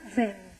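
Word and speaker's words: Veyne: Uno se llama Halperin y el otro es Paul Venn, se escribe Veine, Foucaultianos también.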